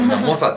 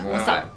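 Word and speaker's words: 猛者: な人でも亡者じゃなくて猛者でしょあ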